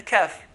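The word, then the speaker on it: ك: Just beneath that is a kaf. Kaf, which is like a K in English.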